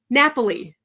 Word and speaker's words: Napoli: And I'm going to bring Donna Jo Napoli, I think I said it right, in now. Did I say it right? Napoli.